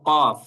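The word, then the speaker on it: ق: কফ হল এটা মোটা করে উচ্চারণ করতে হয়। কফ একটু গলার ভিতর থেকে কফ কফ হ্যাঁ আমরা যদি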